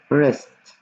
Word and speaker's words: wrist: نكتب W بس ما بنلفظها wrist اللي هو المعصم، معصم الإيد wrist، تمام؟